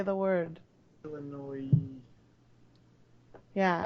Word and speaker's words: Illinois: the original was from Illinois uh Chicago I think see and you say Illinois corrects cck how do you say the word Illinois yeah everyone pronounces the S and you're not supposed to people do that people